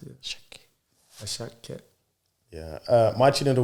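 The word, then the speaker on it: Asake: So it's Yoruba. The S's have silent H's in them. Okay. Yeah. Okay. When they pronounce it. Ashake.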